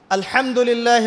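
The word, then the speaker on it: الحمد لله: আলহামদুলিল্লাহি রাব্বিল আলামিন এইতো আপনি পড়ছেন আলহামদুলিল্লাহ শব্দটা কি আলহামদুলিল্লাহ এই হা এর মাখরাজ কোথায় হা এর মাখরাজ কোথায় বলেন একজন কন্ঠনালীর মাঝখান থেকে এখান থেকে আপনি উচ্চারণ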